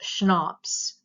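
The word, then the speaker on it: CHNOPS: And that acronym is pronounced SHNOPS. Okay, if you reverse the N and the O, you could say SHNOPS would help you remember those.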